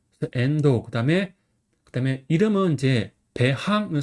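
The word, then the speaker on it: 遠藤: 선 같은 경우는 이제 멀하고 등나무 등이 합쳐진 한자예요. 그래서 여기서는 멀은 N이라고 읽고 그다음에 등나무 등은 도라고 읽어요. 아까 전에 등나무 등은 토라고 읽었는데 여기서는 도어라고 있죠.도 도토 뭐 이렇게 여러 가지 있는 방식이 있다. 확인해 주세요. 앤도 그다음에 그다음에 이름은 이제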